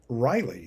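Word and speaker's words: Ryli: Next we have a lighter affair, the Bay Area band Riley, that's spelled R-Y-L-I. At first I kept reading it as R-I-L-Y, recommended if you like,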